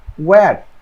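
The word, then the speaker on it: where: এরপরে হলো ওয়্যার, এটা হচ্ছে ওয়্যার মানে এইচ উচ্চারণ হয় না, ডাব্লিউ এরপরে এইচ উচ্চারণ হয় না, তাহলে এটা হচ্ছে ওয়্যার মানে কোথায়, ওয়েন মানে কখন, ওয়াই মানে কেন।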